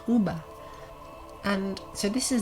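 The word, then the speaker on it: uva: sort of late latin what we now write is the v in modern latin text was pronounced as a b so u v a would have been pronounced uber and so this is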